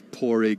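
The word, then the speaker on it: Pádraig: which is the most common and easiest to pronounce there's then porrig which is p-a-d-r-a-i-c and then there's porig with the G so poric and porig both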